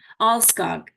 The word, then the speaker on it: Alskog: Yeah, so as if the H was an L. Alskog.